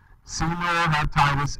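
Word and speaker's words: Caenorhabditis: so this animal senior hepatitis that's how you pronounce that word just in case you're wondering senor hepatitis elegance almost commonly called c elegans all right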